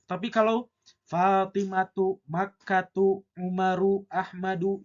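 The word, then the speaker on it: أحمدُ: itu isim guer munsarif tidak boleh kita membacanya ahmadun tapi ahmadu tidak boleh pakai tanwin yang keempat adalah nama orang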